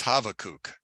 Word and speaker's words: Habakkuk: prophetic book called now it's not called havoc and Christianity it's called habakkuk but his real name is havokuk because the bee is actually a v sound and it's a it's a schwa or a short u sound so we're going to